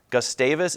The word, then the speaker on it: Gustavus: Gustavus is spelled G-U-S-T-A-V-U-S.